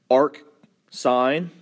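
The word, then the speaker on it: arcsine: The way these are pronounced are arc sine, arc cosine, all one word, and arc tangent.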